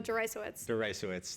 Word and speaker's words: Deresiewicz: So you pointed to the William, how do you pronounce his last name? Oh, Notarize, the professor.